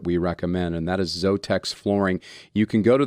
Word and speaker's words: Zothex: recommend and that is zotex flooring you can go to their website to find out more about them but it's z-o-t-h-e-x flooring dot com so it looks like zothex but it's pronounced zotex and they do flooring